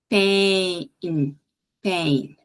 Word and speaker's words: pain: vai ser a frigideira Então tem que ter esse sonzinho essa queda são duas vogais de novo então eu tenho que ter esses dois tempos Pain Pain Mad que é abreviação